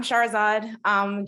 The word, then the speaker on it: Shahrazad: have a question from one of the students, Shahrazad, if I pronounced your name right. Maybe you could come off mute and you could ask your question to Ron. Hi, Ron. I'm Shahrazad.